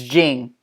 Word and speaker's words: Ging: So it's Jing.